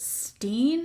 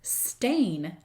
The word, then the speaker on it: Berenstain: So I remember trying to figure out, like, is it Steen or Stein or whatever? Turns out, Kara. Oh, God. It's Stain. What? Because it's spelled Bernstain.